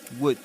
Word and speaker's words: would: Don't forget that in the word would the L is silent. Wood would would.